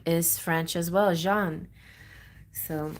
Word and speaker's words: Jean: is French as well Jean so I get the the J J sound the French J okay which is not